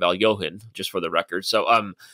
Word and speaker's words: Alekhine: Later on in this episode, we see Benny Watts even reference that she attacks like Alekhine, which of course that's the American pronunciation of Al-Johan, just for the record.